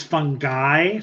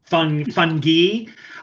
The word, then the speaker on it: fungi: Yes, and during the break, I looked up the U.S. pronunciation is fungi, like fungi, and then the British pronunciation is fungi.